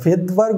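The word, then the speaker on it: Svedberg: ভেদবার্গ উচ্চারণ হলেও এটার আসলে স্পেলিংয়ে তোমার আসলে প্রথমে এস আসে, এই জন্য এটাকে এস দাও।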